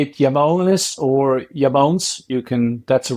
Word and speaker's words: IAMONES: our mutual friend Marco Veni taught me the pronunciation how close did I get it yamon you're perfect and um yeah say it yonis or yamon you can that's the right pronunciation okay so